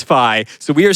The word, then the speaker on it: Fi: pronounce this character's name, whether it is Fee or Fi. I think eventually the entire studio agreed it is Fi. So we are saying it right now. It is Fi.